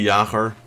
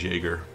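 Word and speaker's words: Jäger: platform I use but basically yaher that's how you should pronounce it if it's darch that that is my last name but most English will probably pronounce it as jger I mean yeah I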